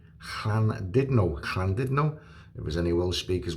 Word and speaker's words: Llandudno: Llandudno, the U is an I, it's not a U. Two L's together is one letter. Two D's together is one letter.